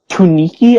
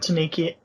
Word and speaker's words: Tanuki: Next up, from at Aptanuki 20 or Tuniki, I guess. I don't know how I want to pronounce that. It's Tanuki. I spelt it wrong.